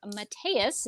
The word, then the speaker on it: Mateus: and inked by Bilquis Evely, and colored by Mateus. That's how he told me to pronounce his name.